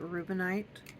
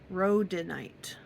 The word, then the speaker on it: rhodonite: This one is made with that rubinite, or sorry, how do you say that again? Rhodonite.